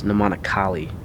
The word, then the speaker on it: Namanakali: It's Namanakali. You mispronounced her last name. It's Kali, not Koli.